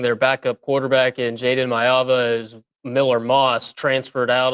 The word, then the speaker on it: Maiava: I think it's Mayava. I believe our Polynesian name expert, Ryan Broninger, tells me you're supposed to pronounce every single vowel. So Maiava, Mayava.